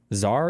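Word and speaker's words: tsar: more capable than the SAR however it's SAR right however Zar and SAR wait is Zar pronounced the same way as SAR CZ a r and TS a r Zar Zar Zar right yeah however of mobilizing Russia's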